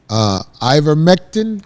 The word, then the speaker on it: ivermectin: Ivermectin?